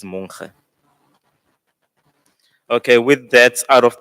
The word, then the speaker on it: Monkhe: Um, and the community of Mfume decided to take a shortcut and pronounce the surname Monkhe instead of Monkhe. So that's why we have two surnames in a way. But the correct pronunciation is Monkhe.